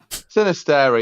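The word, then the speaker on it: Sinisterra: The Sinister, is that how you say his name? Sinister, yeah.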